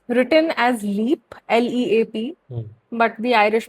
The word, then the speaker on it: Leap: So, Leap Castle, it's written as Leap, L-E-A-P, but the Irish pronunciation is Leap.